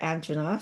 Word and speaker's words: angina: muscle weakness, immune suppression, angina or anga, some people pronounce it that way, hair loss and depression.